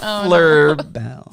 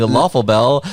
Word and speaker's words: Loeffler Bell: Loeffler Bell. There you go. Bell. Yeah, Loeffler Yeah. Bell. Loeffler Loeffler Bell. Nice. I've been saying lawful bell like an asshole.